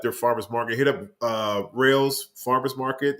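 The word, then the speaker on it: Reihl's: Hit up Rails Farmers Market. It's spelled REIHL''S.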